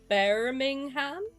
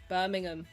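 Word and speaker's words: Birmingham: Bermingham. Bermingham. What's that one that up a bunch of Americans? Close. You just don't say the h.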